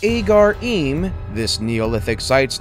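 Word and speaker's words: Ħaġar Qim: Number 4, Agar-Im, Malta. Pronounced Agar-Im, this Neolithic site's name means standing stones.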